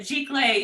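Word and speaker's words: giclée: the type of art print just like oh gee clay yeah i always feel weird when i say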